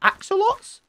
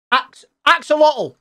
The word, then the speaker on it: axolotl: in these waters you can find is it axolotls ocelots excel i keep saying it wrong apparently